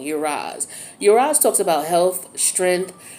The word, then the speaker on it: Uruz: Excuse me, I was pronouncing it wrong. Uraz.